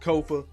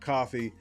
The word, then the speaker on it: Kofa: Once again, I am your humble host, Kofa. K-O-F-A, not coffee, not Kufu, not Kofi, or any variation thereof. Kofa rhymes with sofa. Easy to say, easy to spell.